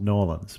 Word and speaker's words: New Orleans: getting started here is how many syllables in the phrase New Orleans everyone is going to say it differently in general the residents say New Orleans I and I and sometimes we'll get it down to two syllables no orans but yeah so it's